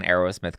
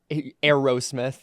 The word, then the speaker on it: Aerosmith: way you said it oh is that is that not how you pronounce itth it's Aerosmith yeah but like you made it sound like Arrow oh not like the the word Arrow but well sorry I